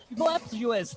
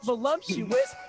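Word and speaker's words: voluptuous: Girl, they be voluuptuous, not voluumptuous.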